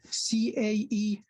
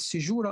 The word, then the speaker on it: caesura: Tun meaning, in English, you may call it caesura or caesura, C-A-E-S-U-R-A. You may pronounce it caesura or caesura, meaning hiatus, meaning pause.